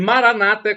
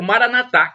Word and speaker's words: Maranata: E Maranata, como dizem os protestantes ou evangélicos, com a tônica na penúltima sílaba, o Maranatá, como dizem nós dizemos nós católicos, nós dizemos assim, Maranatá, os protestantes evangélicos, Maranata. Um com a tônica na penúltima sílaba e nós com a tônica na última sílaba, mas não importa.